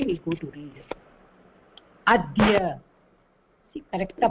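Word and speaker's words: अद्य: adhya, see correctா pronounce, the pronunciation will be இது plus ya.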